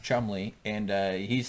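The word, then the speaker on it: Cholmondeley: igny what's Chumley Chumley oh yeah but it's pronounced Chumley and uh he's saying this stuff is crazy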